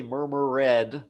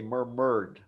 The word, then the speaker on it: murmured: words right so listen murmured that has the D sound murmured drift dead that has the edge sound we don't say murmur read we say murmured but here with drift